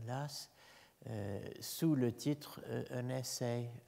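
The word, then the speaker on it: Law: le nom est Edmund Lass, Low, prononcé à l'écossaise, hein, Lass.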